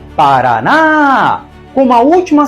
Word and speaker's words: Paraná: e o em ens Paraná tem três sílabas e a mais forte é a última Paraná como a última sílaba